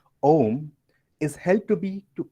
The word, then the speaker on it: Om: Om is made up of three Sanskrit letters, that is A, U, and Ma. When these sacred seed syllables are combined, they make the sound Om, which is recited as